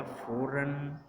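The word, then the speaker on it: foreign: जी is often not pronounced when followed by एन एन। जब एन बाद में एन आ रहा हो और उससे पहले जी आ रहा हो तो जी को हम प्रोनाउंस नहीं करते। तो इसमें बोला जाएगा फॉरन, साइन और फेन।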